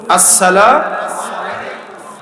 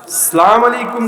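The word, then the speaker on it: السلامُ: বলেন তো আপনার উপরে উচ্চারণটা বলেন আসসালাম সালাম আলাইকুম কোন সালাম নাই কিন্তু মনে রাইখেন বলেন আসসালামু এটা হলো সালামের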